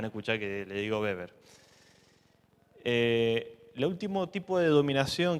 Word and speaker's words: Weber: preguntarán Por qué digo beber si se escribe Weber básicamente porque como él es alemán la W se pronuncia como la B por eso me van a escuchar que le digo beber lo último tipo de